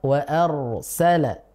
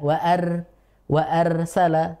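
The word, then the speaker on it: وَأَرْسَلَ: Misalkan dalam lafaz wa arsala. Nah, kita tidak membacanya dengan wa arsala, bukan, tapi tebal. Wa arsala.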